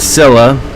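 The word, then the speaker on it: Scylla: but anyway we have killed Silla that's how Gaia pronounced it so that's how i'm going to pronounce it killed her and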